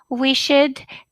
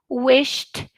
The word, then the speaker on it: wished: Okay, so this is shopped, picked, wished, crunched. Okay? Once again, shopped, picked, wished, crunched. All voiceless sounds should be pronounced like t.